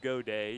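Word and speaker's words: Gaudet: And you hear Godet, and you think it'd be spelled G-O-D-A-Y. You know, why not? Right. But it's spelled G-A-U-D-E-T, so everybody thinks it's got it, but it's not.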